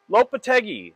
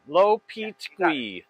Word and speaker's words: Lopetegui: Lopetegui. Lopetegui.